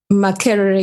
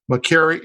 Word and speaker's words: Makerere: And the university in Uganda, how do we pronounce that? Makerere University. Makerere University.